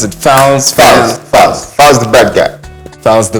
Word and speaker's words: Falz: How you pronounce it? Falz? Falz the bad guy.